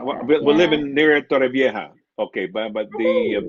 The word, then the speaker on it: Torrevieja: Okay, but I the think, British people would say Torrevieja. I don't know why. Vieja. The Yeah, J, I don't know. I don't know. They yeah, pronounce the J as K, yeah, or something like that.